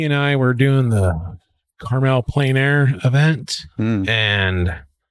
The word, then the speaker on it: Carmel: He and I were doing the Carmel Plein Air event, and I believe it's pronounced caramel. Yeah, caramel. That one.